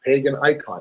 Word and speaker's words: Paganicon: And when I went there, I thought it was entitled Paganicon, because that's how it's spelled, pagan and then I-C-O-N. So for me, that just made sense, pagan icon, and it would fit.